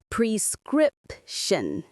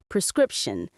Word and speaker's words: prescription: Prescription. Prescription. The stress is on the middle syllable, script.